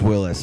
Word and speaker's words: Wyllys: Now, is it pronounced Willis or Willis? There's no. It's just Willis, and you can imagine there's been promoters, commercials.